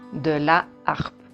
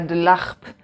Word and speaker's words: la harpe: H, pero no se considera una H muda, sino que una H aspirada. Por lo tanto, no podemos usar el apóstrofe. Y dejamos en femenino, de la harpe. Que también es más fácil para pronunciar, porque si ponemos el apóstrofe sería de l'harpe.